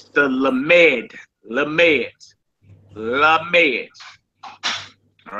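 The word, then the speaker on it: lamed: The next letter makes and is pronounced with an L as in look. As in look. All right. And it's the lamemed.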